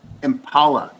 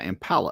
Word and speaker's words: Impala: He's saying like Darla is saying it's impala like like the word like the name Paula, like a girl with an M in front of impala.